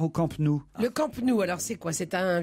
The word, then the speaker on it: Camp Nou: Au camp, vous le prononcez, c'est genre le camp à l'américaine.